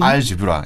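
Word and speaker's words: algebra: 보면은 우리가 그 영어에 아랍어에서 들어온 영어 중에 이제 알케미, 연금술, 그다음에 뭐 알게브라, 대수학, 알고리즘, 엘지브로였는데 영 발음이 알지브라, 예.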